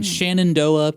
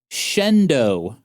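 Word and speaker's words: Shenandoah: in Eli, Nevada, in Shannondoa, Pennsylvania. Uh, apparently that's not how they're pronounced. It's actually Elely, Nevada. Uhhuh. And Shendo, Pennsylvania.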